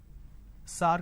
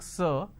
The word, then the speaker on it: sir: Majority of the people pronounce the word sir as sar. Sar, can you please answer my question? So instead of saying sir, they say sar. So this is a pronunciation mistake. Now, how do we identify it's a pronunciation mistake? Instead of a vowel sound they end up using a vowel sound a.